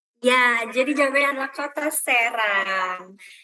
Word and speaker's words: Serang: Ya, jadi jawabannya adalah kota Serang. Kalau itu Serang, ini Serang. Jadi beda di pronunciation E-nya ya.